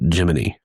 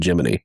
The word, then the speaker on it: Gemini: He wanted something more earthy and so he wanted to call it Jiminy and so that became NASA's NASA's official pronunciation of it was Jiminy.